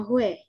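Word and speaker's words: 회: Ini bukan hui tapi bacanya hue. Jadi hue. Oh sama i dibacanya we.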